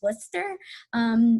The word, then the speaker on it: Worcester: at WPI, when I first saw the word Worcester, it was difficult for me to pronounce it because I thought it was Worcester or Worcester. I had never actually heard someone pronounce Worcester.